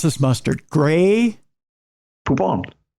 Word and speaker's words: Poupon: Poupon. Not poopin'.